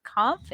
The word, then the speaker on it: Kampf: I am pleased to have Mark Kampf. And Mark, if I'm saying your name wrong, please correct me.